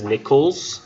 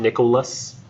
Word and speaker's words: Nichols: My name is Nichols, not Nicholas. Nor nickel like the coin.